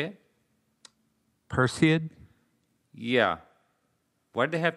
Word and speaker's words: Perseid: p per said how do you say it perseid yeah why did they have to make it such a tough name perseid it's all greek to me sir okay so